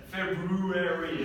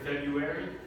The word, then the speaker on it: February: R in there, but it's very hard to pronounce like two R's that are so close together. So you're like February.